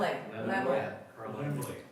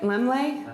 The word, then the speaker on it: Laemmle: Lemley.